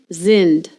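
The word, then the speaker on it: sind: I ish bin I am and you are is zind.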